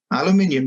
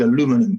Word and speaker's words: aluminium: burgeoning exposure to aluminium aluminium is the english pronunciation as i know you all know so i'm going to stick to that because will just get tony tied if i try with aluminum too often so that is the